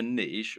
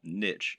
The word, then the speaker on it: niche: The reason we call it a niche, or niche as some people pronounce it, when talking about an online business, is that a niche is a particular category.